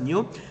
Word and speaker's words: nu: It is indicated by the symbol nu. And it is pronounced as nu, and this is the symbol.